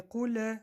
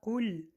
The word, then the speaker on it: قل: قل буква лам читается мягко, без калкала. Не куль, да, а куль.